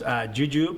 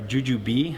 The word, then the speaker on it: jujube: Well, I chose jujube, or jujube. I guess you can pronounce it 2 ways, and that's not the candy.